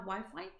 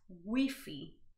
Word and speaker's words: Wi-Fi: wi-fi right we have wi-fi but here in spain this word is pronounced as wiffy wiffy not wi-fi wiffy so they literally pronounce the letter or the word how it is written so wiffy now wi-fi